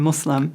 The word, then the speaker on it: Muslim: we have so many different pronunciations, but the most correct is Islam and Muslim.